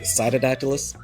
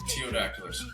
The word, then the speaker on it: Ptyodactylus: Teodactylus. Gotcha. I mean, you can say taio, you can say to either way. The P, anytime the P comes before like a weird letter.